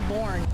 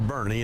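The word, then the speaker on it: Boerne: is not mo it's von army it's pronounced with an a born bernay bjorn burn they always say born we tell people weekend at bernese or bernie that's that's how you pronounce it I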